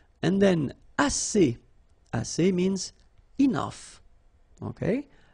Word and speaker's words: assez: And then assez. Assez means enough. Okay? Assez. Remember, two vowels here, A and then E, and then double S, so it's really strong, the S.